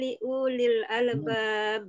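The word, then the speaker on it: لأولي الألباب: Inna fi khalqis samawati wal ardi wa ikhtilafil laili wan nahar la ayatil li ulil albab. Pendek ya bacanya ya. Li ulil albab. Li ulil albab. Wawunya tidak dibaca li ulil.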